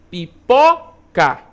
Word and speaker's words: pipoca: Pipoca, né? Chamou, pipoca. Olha só, o pó, como ele estica um pouco mais.